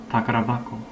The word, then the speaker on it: 宝箱: hak like treasure box but when you combine them notice the pronunciation change it changes from hako to bako takar bako so this happens all